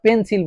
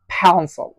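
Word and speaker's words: pencil: যেমন ধরেন আমরা কি পেন্সিল বলি, এই যে পেন্সিল বলি, পেন্সিল শব্দটি কিন্তু পেন্সিল নয়, এই শব্দটি হচ্ছে ফ্যান্সল, থনসল।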